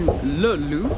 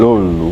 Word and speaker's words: Löyly: We're on our way to Löyly, which is spelled this way. I'm going to write it here. Löyly.